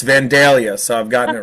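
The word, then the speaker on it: Vandalia: He's like, "It's not Vanalia. It's Vanelia."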